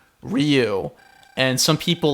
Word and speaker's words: Ryu: yeah I remember some some weaboos they will they will say that the main fighter guy from Street Fighter is roo-roo it's it's a very subtle one syllable pronunciation Capcom USA officially pronounce it ryu and some people like